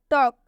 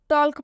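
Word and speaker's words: talk: Example देखिए आप, टॉक। काफ़ी सारे स्टूडेंट्स गलती करते हैं इन सब में, टॉल्क पढ़ देते हैं इसे, जो कि बिल्कुल गलत उच्चारण हो जाता है। इसमें एल साइलेंट होता है क्योंकि एल के से पहले आया हुआ है, तो इसे हम पढ़ेंगे टॉक, क्योंकि इसमें एल साइलेंट है। इसे हम टॉल्क नहीं, इसे हम टॉक पढ़ेंगे।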